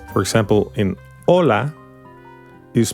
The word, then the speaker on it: Hola: begin the age is silent for example in Ola is pronounced just Ola it doesn't sound the H is a consonant